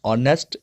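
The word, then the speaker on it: honest: थोड़ा सा ध्यान रखना है, N portal, an ऑनेस्ट, N honourable person, an hour, इन सभी का जो एच है ये साइलेंट होता है।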